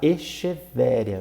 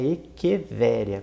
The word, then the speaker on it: Echeveria: Então, por exemplo, CH em latim tem som de K. Então, muita gente fala Echeveria, mas na verdade o correto é Echeveria, porque CH tem som de K.